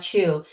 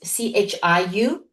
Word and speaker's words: Chiu: Chao Chao is more a Mandarin Chinese phonetic translation of the last name Jiu, and Chiu is more the Cantonese Hong Kong way of pronouncing the word Jiu in Chinese.